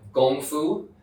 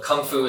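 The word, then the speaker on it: 功夫: so this is called gongfu you may you can show you for the word kung fu yeah yeah so kung fu is another way of pronouncing and gongfu in Chinese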